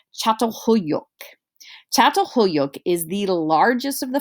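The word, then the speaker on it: Çatalhöyük: to lead to farming villages like this is pronounced chateau hoyok is the largest of the farming villages that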